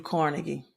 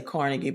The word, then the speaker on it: Carnegie: First meeting with Andrew Carnegie. Some people pronounce it Andrew Carnegie. I usually say Carnegie, but I have heard Carnegie.